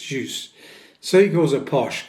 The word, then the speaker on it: Xiu: Uh her surname is spelled X I U and she said it's actually pronounced "juice".